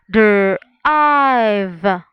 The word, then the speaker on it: drive: So we can simply say drive. If you can see, guys, that is vowel, consonant, E. So if it's vowel, consonant, E, remember, E is silent and the vowel takes the long vowel sound.